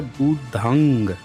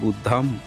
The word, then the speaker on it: बुद्धं: सब हुँ, लोग देख लीजिए, ये बुद्धंग शरणंग, द के ऊपर जो बिंदु लगी है, इसका उच्चारण होता है बुद्धंग, अंग, हुँ, शरणंग। लेकिन ये पूरे अपनी सीरीज में इसका उच्चारण किए हैं बुद्धम शरणम, यानी कि बुद्धा का ब्राह्मणीकरण भी हुआ है।